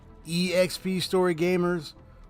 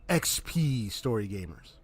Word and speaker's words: EXPStoryGamerZ: pronounce my name sometimes I tend to just automatically pronounce it as EXP story Gamers but I've also had people say uh uh say uh XP story Gamers so uh you know